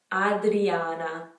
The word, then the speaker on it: Adriana: popular one in italy in italian it would be adriana not a so we start that with an a sound in english it's a in italian like it always is adriana alessandra we have alexandra